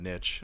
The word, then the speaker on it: niche: three minutes ago cuz you said nitch instead of niche I just hate I